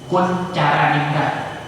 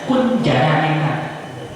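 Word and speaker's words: Koentjaraningrat: T sama J itu C. C dengan C beda. C Kuncaraningrat. Itu kalau mahasiswa saya bacanya Kunjaraningrat. Saya maklum kenapa? Dia mengerti bahwa dulu ada ejaan lama Kuncaraningrat. TJ itu dibaca C.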